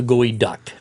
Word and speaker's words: geoduck: but anyway I got the article about the gooey duck okay and it's pronounced gooey okay duck okay even though it's